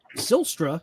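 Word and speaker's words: Zylstra: ball even if so sylstra I believe is how you say his last name either silster caught them first or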